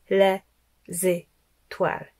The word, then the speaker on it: les étoiles: Donc, on ne dit pas les étoiles, on ne dit pas les étoiles, on dit les étoiles. Les étoiles. Donc le z, il va avec étoile.